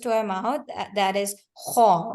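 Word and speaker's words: خ: kha. Ha. Yeah, now it's better. Alhamdulillah. The kha, it's basically with the key eight sound that is more of a kha sound, like that.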